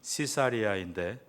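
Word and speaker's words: Caesarea: 그 당시 이스라엘 내에 가이사랴 영어 발음은 시사리아인데 여기에서 영어 시저 황제라는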